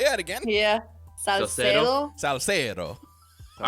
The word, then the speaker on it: Salcedo: But if you guys follow Denise Salcedo, is that how you say it, Jacky? Salcedo. Whoa, you said YouTube. It with Spanish flair there. Say that again. Yeah. Salcedo.